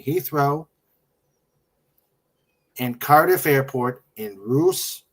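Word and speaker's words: Rhoose: and Cardiff airport in Roose, Wales. I hope I pronounced that right, Doll. Roose. Uh, wait, where is I? I can barely see that. R H O O S E Wales Roose Roose that that might be right.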